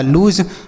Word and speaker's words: lose: आगे लिखा है LOSE, तो एल से पढ़ते हैं आपका लॉ, और ओ का उच्चारण यहाँ पे ना तो ओ की मात्रा होगा ना तो आ के रूप में होगा, यहाँ हम बड़ा ओ की मात्रा करेंगे। SE से जॉ, ये लिखा लूज, मतलब होता है हारना।